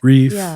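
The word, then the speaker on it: Rieff: I'm sure you did the and I always mispronounce this last name 1968 Triumph of the therapeutic Philip reef reef yes yes when I read it it sounds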